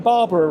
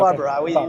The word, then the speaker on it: Barbara: Okay, Am I saying Barbara right? Because that's the way I say it. No, that's perfectly pronounced. It's Okay. Barbara.